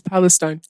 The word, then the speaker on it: Palestine: Is it Palestine or Palestine? It's Palestine. This Palestine thing.